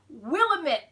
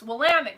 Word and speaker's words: Willamette: Often mistaken as Willamette Valley. It's Willamette, guys. Willamette.